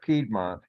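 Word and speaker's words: Piedmont: done just gonna say I think we typically pronounce that pedmont uh the lot you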